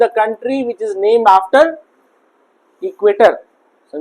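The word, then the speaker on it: Ecuador: इट इज the country which is name after इक्वेटर। समझ में आ गया? इक्वेटोर। हां। ठीक है? इट इज a country which is name after इक्वेटर। तो इक्वेटोर वहां पर टी को डी प्रोनाउंस किया जाता है।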